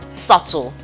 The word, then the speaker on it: subtle: dead honest glutton about subtle subtle the bee is silent so it is a subtle okay now we have